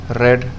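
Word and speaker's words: read: रीड मीस पढ़ना तो रेड रेड रीडिंग हो जाएगा रोब मीस लूटना इसको आप रीड मत इसको रेड पढ़ा जाता है पहले बता द रेड प्रोनाउंस किया जाता है रोब मीस लूटना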